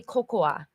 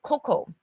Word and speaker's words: cocoa: So, but in English, even though there's a, C-O-C-O-A, we still don't say cocoa, just cocoa.